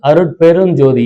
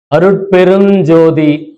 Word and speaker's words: அருட்பெருஞ்சோதி: அந்த அருட்பெரும் இம்மு போடுவாங்க, அது இம்மு கிடையாது. அருட்பெருஞ்சோதி இஞ்சு. அதே மாதிரி தனிப்பெருங்கருணையில இங்கு, எல்லாரும் இம் போட்டுதான் அதை சொல்லுவாங்க.